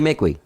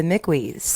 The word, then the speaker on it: Mickwee: okay good good mcqueen it's mickey it's like i guess who is who is it that says it is it someone like kevin connor or someone says it half of the people that say my name say it wrong okay but that's okay